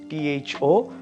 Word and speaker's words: thorough: called through t-h-r-o-u-t-h true but it's a Toro t-h-o-r-o-u-g-h thorough for example I have thoroughly read the